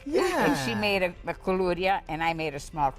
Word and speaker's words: koulouria: And she made a KOULOURIA, and I made a small KOULOURIA.